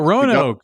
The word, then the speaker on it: Roanoke: It rhymes with Mo and And we Oak. only have 38 minutes. Oh, Roanoke, It Virginia. rhymes with Mo and Oak.